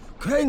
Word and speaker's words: Crane: Crane rhymes with train, and brain, and sane, and grain, and rain, and plane, and the other kind of plane, and...